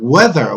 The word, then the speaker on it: whether: this grammar points ok the pronunciation is like weather weather weather weather okay like the weather you know but the weather is a different spelling okay weather we're not talking about the weather when it rains know this but this is the same pronunciation okay weather weather okay